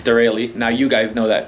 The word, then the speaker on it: Derale: to say it literally my entire life been saying derail it's not it's dereli now you guys know